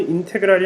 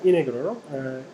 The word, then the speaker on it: integral: 진짜 오리지널 발음은 인테그랄이 아니라 이네그럴인데요. 이네그럴 T 발음을 죽이는 게 이네그럴이라고 하는데 우리는 사실 좀 그렇죠.